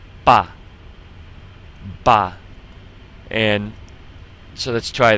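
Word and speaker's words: 爸: A sound here, and it sounds just like the A in ma. Like when you're asking a question, just like na for the word for that we just practiced. And now we just have a B in front of it, so we come up with ba.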